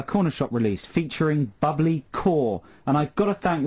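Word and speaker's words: Kaur: the pronunciation of bubbly quoi i believe i pronounced it phonetically it's actually pronounced core he's texted again this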